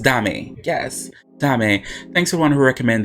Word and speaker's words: Dame: So I guess it's pronounced Dame. Yes, Dame.